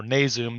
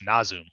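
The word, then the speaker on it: Nasum: favorite grind bands uh nazoom or nazum some people say but it's nazoon uh so are you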